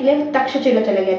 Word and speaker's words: तक्षशिला: कहते हैं, ठीक है, जो कि करप्टेड वर्ड है। मतलब कहने का सेंस ये कि लोगों ने तक्षशिला को, जो कि तक्षशिला है जिसको करेक्ट वर्ड जो है, करेक्ट प्रोनाउंसिएशन ये है, ठीक है, जिसको लोगों ने तक्षशिला कह दिया है, ठीक है।